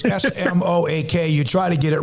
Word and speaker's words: Smoak: It's Smoak, but it's Smoak.